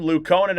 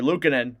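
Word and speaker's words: Luukkonen: Luke Conan out of his net to play it. or sorry, Lucinan out of his net to play it. I know that's how it's said.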